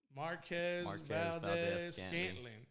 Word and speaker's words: Marquez Valdes-Scantling: Marquez Valdes-Scantling.